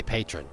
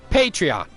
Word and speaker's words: Patreon: I don't know why I say patron. I don't know. Maybe that's just me. Everybody has a different way of pronouncing stuff. Patreon, because I know that's technically how the right pronunciation is.